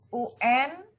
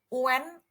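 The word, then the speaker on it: ün: Ya, ini jangan dibaca unen, tapi un. Un. Huruf E-nya dikit aja, un.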